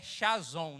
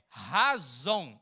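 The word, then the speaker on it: חזון: ensinar a pronúncia porque quando a gente lê parece que é chazon né lembra até Sazon não use Sazon gente faz mal pra saúde tá mas não é Sazon não é chazon a pronúncia correta vocês vão aprender junto comigo é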